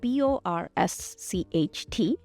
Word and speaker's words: borscht: Who wants to learn how to make borscht? So it's spelled B-O-R-S-C-H-T. The T is silent, so it's borscht.